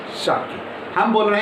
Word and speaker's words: Schottky: हाँ, इसका सही प्रोनाउंसिएशन क्या है, शॉर्टकी।